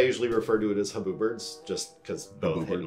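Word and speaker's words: Huberd's: most most boot blacks refer to it as hubs the official pronunciation is huberts and and in my head I usually refer to it as haboo Birds just cuz both hit in my head oh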